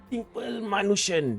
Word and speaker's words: Simple Manushan: Eve right we went to see this movie simple manushan yeah that's how you say it and this